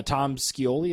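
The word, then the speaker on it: Tom Scioli: is pretty cool uh Tom skoli is how you say his name sure that's how we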